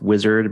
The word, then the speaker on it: Uizard: And you can look right now at tools like, I think it's pronounced Wizard, but spelled Uizard, where you can sort of provide a text prompt and it will create an interface for you.